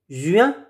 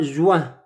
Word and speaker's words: juin: Juin, ce n'est pas juin. Ce n'est pas juin. Ce n'est pas la prononciation, ce n'est pas wa. C'est UI, U1, U1, U1, juin, juin, juillet.